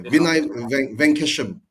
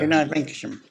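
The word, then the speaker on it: Vinay Venkatesham: Yeah, Vinay Venkesham. Venkesham. Yeah. Vinay Venkesham.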